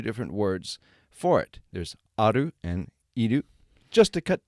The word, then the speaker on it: ある: there are two different words for it there's aru and edu just to cut to the chase